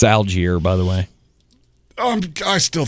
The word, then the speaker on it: Allgeier: It's Allgeier, by the way. I still think that's wrong, but you say your name wrong.